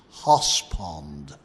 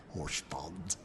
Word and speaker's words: Horse Pond: In fact, if I say it right, it was Hoss Pond, not Horse Pond, Hoss Pond, because that's how the locals said it.